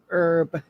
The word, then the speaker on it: herb: in a soup and herb now why do you drop that H herb I have no idea